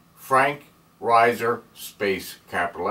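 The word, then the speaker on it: Reiser: and mineral identification followed by my name Frank Riser space capital M period capital S period Riser is spelled r-e-i-s-e-r I encourage you to watch my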